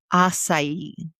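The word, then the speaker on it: açaí: Acai. Acai. There's not enough letters for that. Yep, 4 letters, but 3 syllables.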